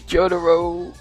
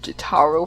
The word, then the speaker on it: Jodaro: name was jodaro because i pronounced it jitaro for like a long time because uh that's how it read to me until recently i found out his name was jodarov a few months ago i was like